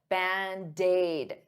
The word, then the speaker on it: Band-Aid: Band-Aid is 2 words, but to pronounce them like one, I'll take that D and transfer it to the vowel. Band-Aid, dade, Band-Aid, Band-Aid, Band-Aid fix.